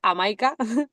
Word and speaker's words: Hamaika: pronunciado bien eh signica si la H no se le es amaica amaica que significa amaik significa 11 en euskera entonces son 11 noches